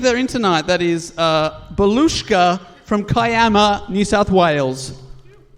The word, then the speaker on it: Belushka: It's spelled Balusca, and then Belushka's given me the pronunciation, then added, when they